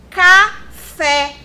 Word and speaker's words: café: Outro exemplo. Café. Fé. Olha o acento aqui para ajudar a vida da gente. Fé é a sílaba tônica dessa palavra. E ele é classificado como oxítona por quê? Porque é a última sílaba daquela palavra, certo?